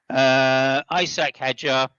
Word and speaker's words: Hadjar: Isaac Hadjar, I should say. That's the proper pronunciation. Isaac Hadjar in 9th place, and Tsunoda in 10th place for the final point.